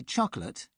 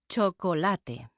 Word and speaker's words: chocolate: Every syllable is pronounced in Spanish. So the final e is never silent. I say chocolate, but Isabelle says chocolate.